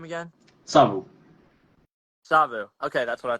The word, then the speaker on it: Savu: That's why that's funny because like I think you remind me how to pronounce your name again? Savu.